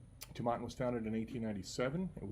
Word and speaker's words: Tomatin: today we have tomaten I had to look it up repeatedly to find out the correct pronunciation I had watched several videos looked at the site I got three different three different pronunciations finally on their Facebook page there was a video of actually the guy who actually met when he came here in the Beaumont from the distillery and he was pronouncing so we're gonna go with tomaten okay so anyway Tabata